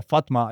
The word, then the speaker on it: Fátima: A pronúncia é Fátima.